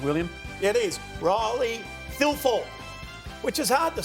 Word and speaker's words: Thilthorpe: And it's Thilthorpe. Yeah, perfect. There you go. Do other people have the same morbid fascination with your name than Billy? I don't really understand it. It's said exactly how it's spelt, but people seem to